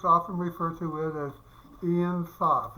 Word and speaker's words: Ein Sof: Jewish mystics often refer to it as Ein Sof. It's spelled E-I-N, then S-O-F, which means, excuse me, endlessness.